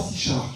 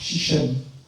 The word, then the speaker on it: Sichem: mais lorsqu'on rentrait dans Sichem, pas Sichard, Sichem, on trouvait une épaule.